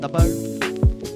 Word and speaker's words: Sabr: You pronounce it Sabr.